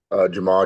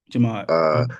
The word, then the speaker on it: Jamad: Jamal, Jamad, it doesn't matter. But Jamad.